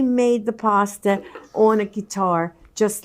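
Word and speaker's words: chitarra: the pasta on a guitar just like this. So it's certainly not spelled like guitar, but it sounds like guitar.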